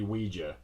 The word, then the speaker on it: Ouija: Now, there's actually a discrepancy and, conundrum and flimflammery about how to pronounce the name of this thing, but I believe, really, it's supposed to be Weejah.